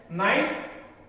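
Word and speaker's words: knight: Next row, नाइट means रात, मगर एक दूसरी नाइट है जो के से शुरू होगी, के साइलेंट है। नाइट ये होता है योद्धा, नाइट मीन्स योद्धा।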